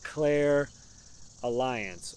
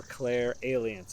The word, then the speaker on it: clairalience: today about something called claire alliance or claire aliens i've heard it pronounced both ways claire aliens claire alliance yeah i like claire